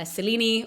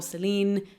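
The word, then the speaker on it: Selene: the moon goddess uh selini or Seline depending on if you pronounce that last e or not she falls madly madly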